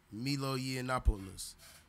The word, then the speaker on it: Milo Yiannopoulos: I'm gonna keep this real brief, but his name is actually Milo Yiannopoulos. Milo Yiannopoulos. That's how I believe it's pronounced.